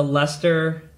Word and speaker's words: Leicester: I'm going to Leicester, and I'm saying that correctly, but if you look at the transcript, it's spelled differently than it sounds, guys.